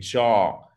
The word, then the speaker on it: jaw: Et jaw, que vous voyez ici, J-A-W, c'est la mâchoire. Jaw, OK? C'est la même prononciation que law.